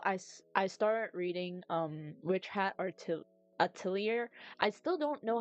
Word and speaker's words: atelier: It's pronounced as outlier.